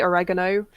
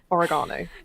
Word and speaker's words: oregano: sorry i can't remember i do that with oregano sometimes i say oregano and then my family is like violet it's oregano yeah i'm like yeah